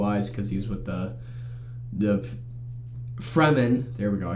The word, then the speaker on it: Fremen: he had blue eyes because he's with the Fremen.